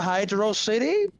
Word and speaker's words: Hydrocity: It's pronounced two different ways. Oh, boy. Some people call it Hydro City.